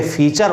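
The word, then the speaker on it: फ़ीचर: तो इनका उच्चारण हम फिल्म नहीं करना है, दोनों होठों में मिलाना नहीं है, फिल्म नहीं बोलना, बल्कि इसे फिल्म बोलना है, इसे फीचर बोलना है।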